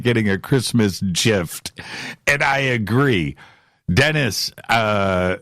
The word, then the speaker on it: GIF: it's supposed to be gif well i say gif you know and that's it but you're right though i like the graphical interface file so if that's the case it's a hard g so why would you